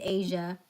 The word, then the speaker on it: Aysia: Asia like the continent I spell it differently but it's Asia like the continent now you love people